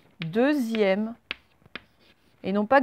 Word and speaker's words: deuxième: Le X, là, en fait, il se prononce comment? Ben, il se prononce Z, deuxième.